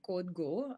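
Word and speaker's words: Kodego: and we also have another portfolio company called code go it's spelled as k-o-d-e-g-o and this is um also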